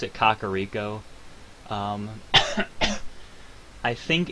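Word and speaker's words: Kakariko: have a pronunciation yeah according to Zelda Wiki the pronunciation is Kakao um reason is it may have originated from the word Koko Rico which is a French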